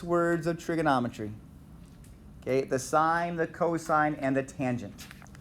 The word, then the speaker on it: sine: not church that's pronounced sign right that is an abbreviation for the word sign it is not sin it is sign so you're talking about